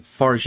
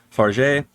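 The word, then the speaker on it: Fargeat: how you say it I literally was looking up her name and watching a couple other reviews to see how they pronounce her name and I heard four different ways to say it but she is French so I believe it is far uh and it is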